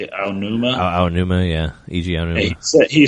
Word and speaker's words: Aonuma: Aonuma, yeah, E.G.